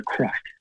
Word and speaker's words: craic: We spell it differently. It's CRAIC, crack.